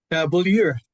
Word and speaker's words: Beaulieu: And guest A2, Paul, pronounce it for me. Beaulieu.